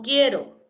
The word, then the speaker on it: quiero: quieto, o quién, o quiero. ¿Sí? La U sigue sin pronunciarse, ¿ah?